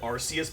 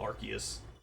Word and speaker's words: Arceus: Also, for the longest time I called him ar I pronounced it arus, but now I just call it archus.